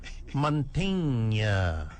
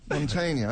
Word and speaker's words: Mantegna: Joe Mantegna. Yeah. Am I saying it wrong? You're getting a lot closer. Just say it once. Mantegna. It's like Tony Montana. Yeah, that's close enough. That's enough. Mantegna, okay.